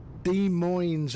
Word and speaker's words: Des Moines: I mean, um, um, I think he's I think the S is silent. Oh, right. De Moines.